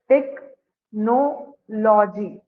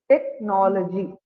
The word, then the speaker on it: technology: technology ah it is some people pronounce it as take no la like they prounce it like that but that is the wrong pronunciation okay so it is technology okay okay Ma which